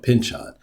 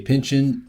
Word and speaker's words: Pynchon: don't know either way I personally like to say Pinchin just because it also sounds like a verb and it confuses people